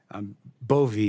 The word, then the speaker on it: Bove: It's Bove, right? Bove, Senator, like Bove, with a long I E.